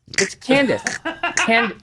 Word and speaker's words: Candace: It's Candace.